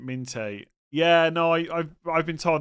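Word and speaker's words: Minteh: And they say that we should pronounce it Minte. Yeah, no, I've been told that before. I always say Minter.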